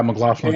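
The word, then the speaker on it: McLachlan: McLaughlin? Is that how you say her name? Yeah. yeah, McLaughlin.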